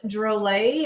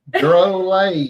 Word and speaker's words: Drolet: Rob Drolet, and I double checked. That is how we say his name. Yep. Drolet, USA BMX. Drolet.